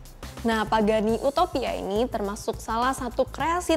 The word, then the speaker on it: Utopia: horashop Pagani adalah Pagani Utopia ya pronounceationnya Utopia Bukan Utopia karena dia tetap pronunciation Italia mobil ini seharga 2,2